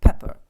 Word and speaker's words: pepper: Pepper сіль та перець і от знову це р в кінці ненаголошена позиція воно тільки е читається як Pepper р не чується а